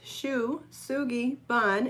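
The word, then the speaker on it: shou sugi ban: pronounce Shu Shu Gabbana's Shu tsuki bun so kind of the way it looks Shu Sugi bun it took me many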